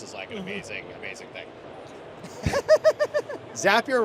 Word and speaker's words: Zapier: an amazing amazing thing zapier rhymes with happier it does but on